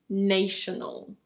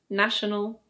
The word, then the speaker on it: national: But you should never say "NAY-she-nel" or "NAYSH-nel". I know the noun is "nation", but the adjective is: national. Or: national.